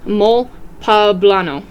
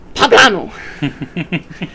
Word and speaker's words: mole poblano: their big holiday is mol pablano pronounced with the emphasis on the second syllable like guacamole so like papano that's invented in